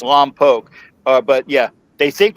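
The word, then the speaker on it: Lompoc: and I need to I'll get this right because I was told I mispronounced it the first time. They think that we're we got uh weekend passes from Lomb Poke.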